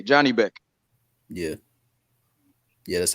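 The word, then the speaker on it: Janibek: j a n i b e c k Johnny Beck yeah yeah that's how you spell it yeah yeah HJ moving him fast man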